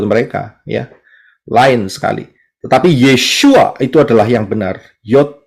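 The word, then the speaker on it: ישוע: Tetapi Yeshua itu adalah yang benar. Yod, Shin, Waw, Ayin. Dari kanan ke kiri bacanya.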